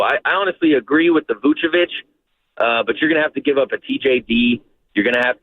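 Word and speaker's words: Vučević: So I honestly agree with the Vucevic, but you're going to have to give up a TJD.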